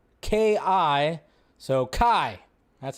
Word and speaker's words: Kai: that his character's name in Rebel moon is Kai That's how you say it it's spelled Ki so Kai That's how you say his name and yes